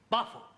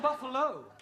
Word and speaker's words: buffalo: a big bull oh Buffalo terol confused yeah words that end in o like Buffalo or radio or vertigo you pronounce the O but when there is no o you don't add one understand yes sir I